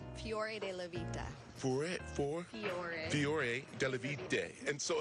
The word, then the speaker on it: Fiore Della Vita: And Tracy, make sure I say it right, because I know right now Michael Petri is in the booth saying it correctly. It is Fiore Della Vita.